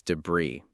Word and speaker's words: debris: Our fourth word is debris. D E B R I S. Debris. The IPA is debris in the US or debris in the UK. In both cases, the final S is silent.